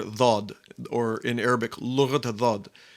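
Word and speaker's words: ضاد: One of the names of Arabic, the poetic titles given to Arabic, is it's the language of the letter Dhad, or in Arabic, Lughat Dhad.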